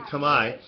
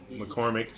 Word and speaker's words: Khmer: So if you're speaking Khmer, which is how it's actually pronounced. I know a lot of people make mistakes with that, like McCormick. It's Khmer. I'm not going to go into reasons why, but it's Khmer.